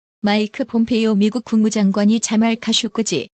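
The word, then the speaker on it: Khashoggi: 마이크 폼페이오 미국 국무장관이 자말 카쇼크지 영어권에서는 카쇼기로 발음 실종 사건이 발생한 터키에 도착했다고 AFP 통신이 17일 보도했습니다.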